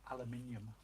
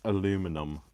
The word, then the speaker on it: aluminium: Oh, Jody Martin says, "How do you say aluminium?" Aluminium. Not aluminum. I am a British person. I say aluminium. We spell it differently as well.